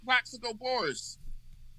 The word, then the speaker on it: Plaxico Burress: Plaxico Burress.